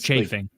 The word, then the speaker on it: chafing: It's chafing. Like church. Like church.